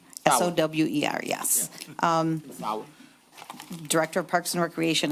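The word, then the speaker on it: Sower: Sauer, S-O-W-E-R, yes. Sauer.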